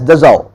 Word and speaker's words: Dassault: this is princeton written as the salt but pronounced as dissolved as you have a cold car called renault it is written as renault but its princess renault similarly it is dissolved aviation is the manufacturer of the state-of-the-art rafale